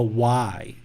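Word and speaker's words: Wai: So the hands coming together in the prayer position, this is called a Y, W-A-I. That's how I spell it, Y.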